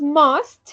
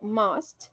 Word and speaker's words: must: bien por aquí tenemos must se pronuncia así como con una o must Y esto es debería